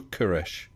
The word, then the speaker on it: Koresh: Koresh or Koresh? Koresh, I think you pronounce it.